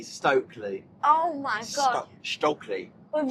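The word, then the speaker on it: Stöckli: oh, my new Stockley skis. Yeah, so Lyla got some new... It's actually Stokely.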